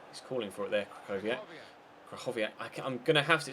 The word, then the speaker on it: Krychowiak: Or Krychowiak, as I was told in the comment section in the last episode that his name is pronounced.